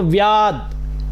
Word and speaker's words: व्याद्: ये द आधा ही है तो व्याद, द में अ का साउंड नहीं आना चाहिए, उच्चारण की गलती नहीं होनी चाहिए।